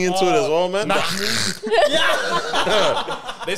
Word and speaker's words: Mahmoud: Mahmoud. Yeah. They say his name, they have to. They just don't know how to say it. And some guy called me Mahamo.